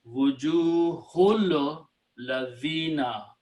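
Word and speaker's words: وجوه الذين: So it becomes wujuhun, wujuhu, and you read together, you do not pronounce this hamzatul wasl. It becomes wujuhul ladhina, faces of them.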